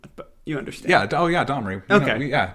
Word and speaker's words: Domri: Domni Raid would be proud. Yeah, I probably butchered the pronunciation, but you understand. Yeah. Domri. Okay. Domri.